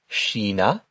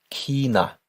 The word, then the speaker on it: China: And this actually has two different variations on the way to pronounce it. You can say shina shina or you can say kina kina.